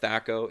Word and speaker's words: THAC0: can also just search the movie it's called thako it's spelled t-h-a-c-o and you can find that youtube